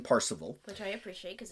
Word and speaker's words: Parzival: discovered the Holy Grail, sometimes pronounced Percival, but he goes for more of the old school pronunciation, Parzival.